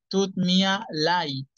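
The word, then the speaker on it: tut mir leid: la hemos visto tú me a light significa lo siento es como el am sorry ahí se pronuncia Ay tú Mia light to mía light esas tres palabritas son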